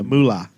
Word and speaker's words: moolah: Mooly. Yeah, moolah.